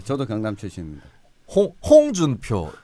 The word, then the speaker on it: 홍준표: 홍준표 이렇게 하거든. 홍준표죠. 네. 홍준표 아니고 홍준표. 홍준표. 따라해봐요. 홍준표. 홍준표. 아, 참나. 홍준표. 홍준표. 네, 이게 경북 발음과 경남 발음의 차이입니다. 경북은 홍준표, 경남은 홍준표.